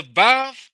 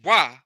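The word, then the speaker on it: וו: The Vav, which we mispronounce as Wa, is the sixth letter.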